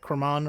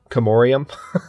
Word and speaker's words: Comorium: right next to me, that Cremon or whatever? The one that's directly southwest of me. Comorium. Yeah. that was an atrocious. As I put my foot in my mouth, that was an atrocious pronunciation.